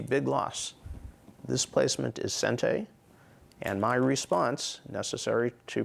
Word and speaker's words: sente: of concepts, and they are, in Japanese terms, sente and gote. Sente, we would spell phonetically in English, S-E-N-T-E, with a long mark over the E.